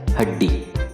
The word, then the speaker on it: हड्डी: हड्डी ऐसा नहीं प्रोनाउंस होता है, जब ये हल लगता है तो उसका प्रोनाउंस हाफ हो जाता है, आधा हो जाता है, और वो उसका कैसे हुआ हम बोलते हैं हड्डी।